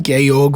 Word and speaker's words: Georg: Captain Gayorg Vontrap, yes, it's spelled George with the e taken off, was against the enelus because he was a proud Austrian patriot.